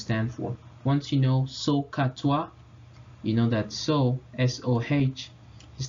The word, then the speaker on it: SOHCAHTOA: So we've made up 3 acronyms, and they're pronounced SOHCAHTOA.